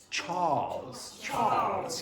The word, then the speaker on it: Charles: Charles. Yeah. Don't pronounce the R. Just elongate the A.